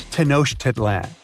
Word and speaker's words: Tenochtitlan: It's Tenochtitlan. And Mayan cities are hard to pronounce, too.